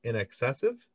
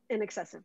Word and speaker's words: Inexcessive: But so I did notice that in your band, I believe it's, you guys pronounce it Inexcessive. Inexcessive, yes. All right.